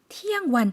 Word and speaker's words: เที่ยงวัน: เที่ยงวัน 티양완. 그런데 괄호에 완이 들어가 있죠. 그래서 일반적으로 태국 분들은 이 괄호를 생략해서요. 그냥 티양이라고만 발음을 해주십니다.